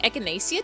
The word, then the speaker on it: echinacea: Supersman 300 says echinacea. I'm pretty sure it's echinacea? Google, how do you pronounce that?